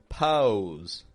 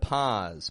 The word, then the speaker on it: pause: speakers will try to force that W or that U sound in there to get low or pose instead of pause, pose.